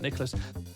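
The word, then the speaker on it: Nicklaus: But how how do you really pronounce it? Nicholas. Is it just pronounced Nicholas, but it's written in a slightly more German looking way? Is it just Nicholas? Like Nicholas? Of course it is.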